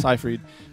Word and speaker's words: Seyfried: Okay, that's how you pronounce it. Seyfried.